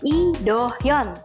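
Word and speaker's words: Lee Do-hyun: Hyoyeon lilitannya ya wuih Tapi kalau dalam pelafalan Bahasa Korea dilafalkan nya I do Hyun Wook karena hangatnya iya bukan Li teh mata Yo bener kayak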